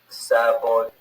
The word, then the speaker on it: Sauvignon: Cabernet Sauvignon. Sauvignon. That's how but she says pronounced. Sauvignon. Yeah, that's how I thought it was pronounced. Sauvignon. The G is silent, Amy, so your translation isn't really correct.